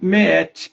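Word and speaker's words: Maat: Isso foi representado pelos egípcios como o salão de Meet, escreve M-A-A-T, né? Mas se fala, né? A maneira de se pronunciar é Meet.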